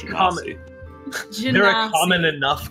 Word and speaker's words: Genasi: It's pronounced common- Genasi.